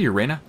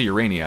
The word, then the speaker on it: Urania: Did I say Urena? Meant to say Urania, I guess.